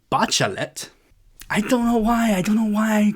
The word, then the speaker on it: Bachelet: At one point, I kept referring to the former socialist president of Chile as Michel Bachelet, but it is actually Bachelet.